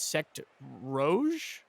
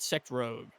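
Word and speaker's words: Secte Rouge: Twitch chat is telling me that it's Sect Rouge. It's not Sect Rogue. I've been saying it wrong, apparently. That's actually both of us, but it is Rouge.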